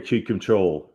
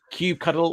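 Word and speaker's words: kubectl: control so yeah actually there's two ways pronouncing this trick yeah isn't there no so whichever way you whichever one is your way right whether you have pineapple or not pineapple whether it's Cube cuddle or control okay this is a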